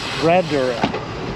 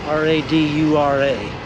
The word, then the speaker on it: Radura: parkway onto Lenora Road that's how you say it Red Door r-a-d-u-r-a Road radura 17.3 miles times 33 minutes